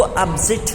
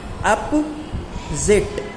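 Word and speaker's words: opposite: अपोजिट जो हम word बोलते हैं, एक्चुअली ये गलत प्रोनाउंसिएशन है. अपोजिट नहीं होता है, वो अपोजिट होता है. क्या होता है इसका सही प्रोनाउंसिएशन? अपोजिट.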